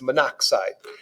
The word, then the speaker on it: monoxide: carbon and one oxygen we're going to put mono oxide which is pronounced monoxide and so we will